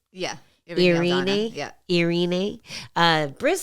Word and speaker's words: Irene: uh you you how do you say it irini yeah Irene uh bris said it kind of weird but